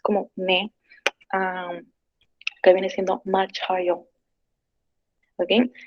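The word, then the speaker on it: 맞아요: Acá lo que es la primera sílaba, como ven, termina en lo que es como una SH, se combina con la A que sigue, por si acaso viene siendo machayo.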